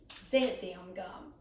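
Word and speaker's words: xanthan gum: One of the recipes I did this weekend had xanthium gum. By the way, I looked up on YouTube how to actually pronounce this, so I know I said it correctly.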